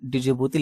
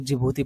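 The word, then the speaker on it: Djibouti: पे आप ये देखिए जो डिजिबूती लिखा है, डिजिबूती नहीं, इसको जिबूती पढ़ा जाता है, डी साइलेंट है यहाँ पे, ठीक है, क्योंकि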